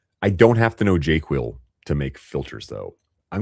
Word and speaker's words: JQL: So I'm going to click on JQL and here is the jQuil code. I pronounce JQL as jQuil.